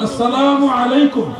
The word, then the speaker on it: আসসালামু আলাইকুম: আসসালামু আলাইকুম। এখন থেকে এইভাবে সালাম দিবেন। একটু কষ্ট হলে এভাবে দিবেন। ওটা সালাম।